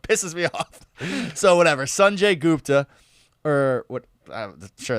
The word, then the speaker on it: Sanjay: Yeah, Sanjay, I found out is the correct pronunciation of his name, Sanjay.